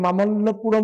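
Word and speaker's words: மாமல்லபுரம்: answer দেখো লেখা আছে মহাবলীপুরম বা স্থানীয় উচ্চারণে মামল্যপুরম বলছে দক্ষিণ ভারতের তামিলনাডু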